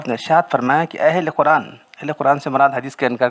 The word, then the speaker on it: قرآن: سب سے پہلی بات، لفظ قرآن، بہت سے لوگوں کو لفظ قرآن کہتے ہیں، قرآن، را پر جزم ہے، یاد رکھو۔ قرآن صحیح تلفظ قرآن ہے، قرآن کہتے ہیں لوگ۔ اس حدیث میں قرآن